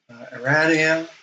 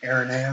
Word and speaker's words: Aranea: Arania, or sorry, I always mispronounce her name. Aranea, there we go.